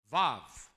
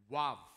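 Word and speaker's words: ו: This right here, Vav. Vav. In some dialects of Hebrew, it's wav, wav.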